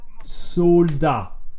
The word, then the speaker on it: soldat: You know, in French we say soldat. Soldat, soldier, soldat. How to say Chinese soldier in Luna? Do you know how to say Chinese soldier? Soldat chinois.